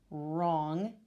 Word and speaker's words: wrong: K at the beginning wrong with the silent w knife with the silent